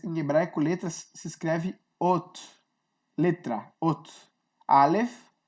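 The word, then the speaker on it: אות: hebraico letras se escreve ot. Letra, ot. Aleph, esse som de O é um Vav. E Taf, que a gente vai aprender no final, tá? Então, Aleph, Vav, Taf, Ot.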